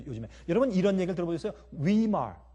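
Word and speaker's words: Weimar: 위말 아니면 순수한 독일말 발음으로 위말 리퍼블릭 이란 말 들어보셨어요?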